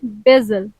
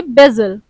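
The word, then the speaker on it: basil: green कडम तुलसी को English में बोलते हैं बेजल सही प्रोनाउंस करेंगे बेजल तेज पत्ते को इंग्लिश में बोलते हैं बिलीव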